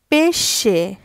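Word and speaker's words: pesce: দিয়ে এখন বুঝিয়ে দিব এস এ যার উচ্চারণ সিপা শারপা অর্থ মাপলার পরেরটা এস এ যার উচ্চারণ সে পেশে কোন শব্দের মাঝখানে এসএই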